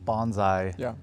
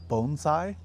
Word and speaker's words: bonsai: Um well first off so bonsai which a lot of people call it bonsai in uh the United States but the cor correct pronunciation is bonesai uh like bone sai and essentially it just means a tree in a pot.